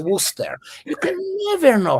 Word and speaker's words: Worcester: Because in English, you write Gloucester and you pronounce Gloucester. You write Worcester, you pronounce it Worcester.